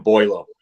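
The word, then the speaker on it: Beaulieu: are paying um nathan uh somebody want to pronounce his name for me it's too early in the morning nathan boylo thank you i i pulled double duty as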